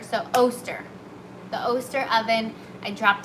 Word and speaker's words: Oster: So it rhymes with toaster, so Oster.